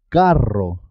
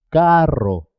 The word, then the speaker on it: carro: Por ejemplo, cuando se escribe doble, dos R's, siempre suena doble. Carro. Carro.